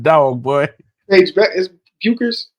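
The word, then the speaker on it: Bueckers: boy Paige Beck is buers is it buers Beckers the the ued is silent Beckers yeah beig Beckers so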